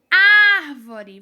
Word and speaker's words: árvore: Árvore. Vocês conseguem notar qual é a sílaba que é falada com mais força, com mais intensidade? Árvore. É o ar, não é? Árvore. É o ar. Então, na palavra árvore, o ar é pronunciado com mais força.